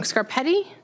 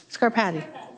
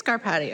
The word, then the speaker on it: Scarpati: I think I always say your name wrong. Scarpetti. Scarpati. It is Scarpati.